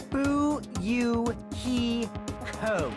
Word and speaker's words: Fuyuhiko: last name is my first name is pronounced boo you he code i wish everyone did